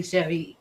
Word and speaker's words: Cheire: No, I mean, but my name is confusing because it's French and so it is technically Sheree, but it's like we say it the American way.